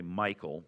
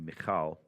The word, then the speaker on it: Michal: Most Americans say Michael, but proper Hebrew would be Michal.